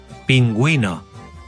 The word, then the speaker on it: pingüino: pero si en español la U presenta la diéresis, sí se pronuncia. Agüero. Pingüino.